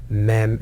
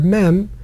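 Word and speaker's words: מם: is the mem because when you pronounce the letter mem you close your mouth it's mm and the end of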